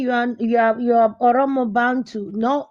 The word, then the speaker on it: Oromo: yeah, our people could not pronounce Oromo, so they now call them Oromio.